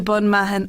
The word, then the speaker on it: Bunmahon: i was trying i was here trying to pronounce myself it's the allahis to bon mahan miners trail that's correct so can you just